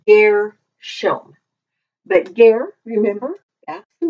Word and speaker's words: Gershom: So this is pronounced Gershom. And we usually read it in the Bible as Gershom or Gershom, but it's Gershom.